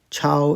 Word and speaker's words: 抄: Chao is the second character. Yeah, all 3 of them are Chao, first tone.